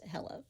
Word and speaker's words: Helle: her name is Hela h e l l e but it's pronounced Hela okay before we get